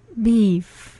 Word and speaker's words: beef: beef 네, beef beef 네, 그죠.